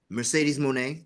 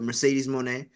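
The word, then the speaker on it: Mercedes Moné: shots here and there because you know uh Mercedes Monae I was going to make sure I said it right not the other name the WWE name but Mercedes Monae she is still out there um speculations is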